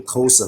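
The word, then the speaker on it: Xhosa: s a yeah Co it's pronounced kosa though but it's xh all right appreciate that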